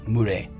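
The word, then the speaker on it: mûre: In French we say murre, M-U-R-A. You can see here M-U-R-A, which is murre. Clear? The pronunciation in French.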